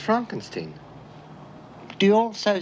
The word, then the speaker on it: Frankenstein: dr frankenstein frankenstein you're putting me on no it's pronounced frankenstein do you also say frodrick no frederick well